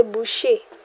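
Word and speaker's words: boucher: For the butcher, somebody that cuts meat, you say bush. Bet. Remember ch sounds like an sh. So you say ch, you say sh.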